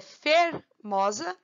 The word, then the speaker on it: fermosa: A palavra é fermosa, fermosa ou fermosá. Forçando assim, a gente percebe que a sílaba tônica é esse mó aqui.